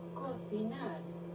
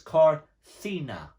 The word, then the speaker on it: cocinar: Now this one is the most different because it's spelt with a C. So you would expect that word to read cocina, but it isn't. If you listen to it, Cocinar. it's corcina. Corcina.